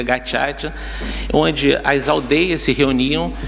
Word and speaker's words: Gacaca: E, no entanto, ali diante daquela tragédia humana, foram criadas as cortes de Gacaca, se escreve Gacaca, né, para quem procurar na internet, mas se pronuncia Gacaca, onde as aldeias se